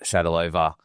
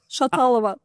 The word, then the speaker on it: Shatalova: with the lovely Shadalova Mabel Street. If you ever learn to pronounce my surname, I will love you even more. Shatalova from Mobble Street.